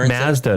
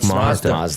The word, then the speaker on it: Mazda: It's called Park Mazda, not Park Mazda.